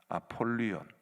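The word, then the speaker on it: Ἀπολλύων: 이 아볼루온이라는 말이 나오는데, 제가 헬라어로 발음을 해드릴 테니까 뭐하고 비슷한지 한번 보시기 바랍니다. 아폴리온, 뭐하고 비슷합니까? 태양신 아폴론과 이름이 굉장히 비슷하지요.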